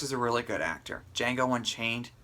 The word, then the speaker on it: Django: a really good actor Django Unchained the D is silent hillbilly and he an